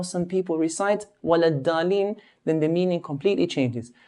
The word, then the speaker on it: ولا الضالين: So dad should be pronounced clearly, walad dalin.